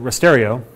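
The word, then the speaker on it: rasterio: then wrote it that night and called it risterio which we pronounced that way because we're contrary and all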